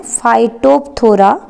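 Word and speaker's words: Phytophthora: तो एग्जाम्पल लिखें, सबसे पहला फाइटोप्थोरा पाल्मीवोरा, यहाँ पे एक फंगस का नाम लिखवाऊंगी मैं, फाइटोप्थोरा, पी साइलेंट है बेटा, फाइटोप्थोरा पाल्मीवोरा एक फंगस है।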